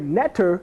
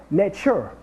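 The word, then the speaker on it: netjer: Then you have the word Netter, in which that actually, it wasn't pronounced Netter, it was called Netcher. Netcher. That was pronounced N-E-T-J-E-R.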